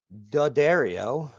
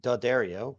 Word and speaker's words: D'Addario: So we're going to use these D'Addario strings. I'm overemphasizing D'Addario because I continue to get comments on how I pronounce D'Addario, which is not correct, and that's fine.